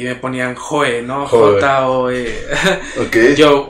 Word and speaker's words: You: J-O-E. Okay. Yo, o les decía yo, lo escribían Y-O-U, uh-huh, pero me decían you. Sí, ya, güey. You. Entonces, la pronunciación correcta es Joe.